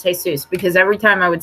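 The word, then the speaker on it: Jesús: to remind myself to pronounce hey sis it's pronounced hey Suz because every time I would see the name hey soos I would want to say is Jesus there yeah so I'd be like hi this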